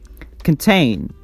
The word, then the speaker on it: contain: Contain is also a two-syllable word. It's a two-syllable word, and we stress the second syllable, contain.